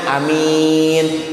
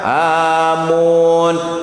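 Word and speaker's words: آمين: Beb gimana kalau mimnya diganti domah? Amun orang gila. Pahir kalau amin masih bahasa Arab. Kalau alifnya panjang amin masih bahasa Arab. Kalau amin masih bahasa Arab. Tapi kalau amun naon eta tuh? Jelas apa tidak? Berbeda panjang pendek aja maknanya sudah berubah.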